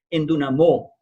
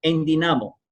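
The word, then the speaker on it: ἐνδυναμόω: estos instantes, y es endunamó. Lo interesante es que escrito en griego, esa palabra hoy existe en el griego moderno, pero se pronuncia endinamo.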